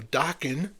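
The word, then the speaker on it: Dokken: Um, those of you who know Dockan rhymes with rocking, breaking the chains, good album.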